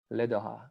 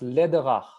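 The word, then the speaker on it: Läderach: It's pronounced Lederer, something like that.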